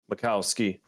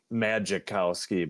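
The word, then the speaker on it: Majkowski: in that 89 Macowski, but it's spelled like Magicowski, but it's it's Macowski.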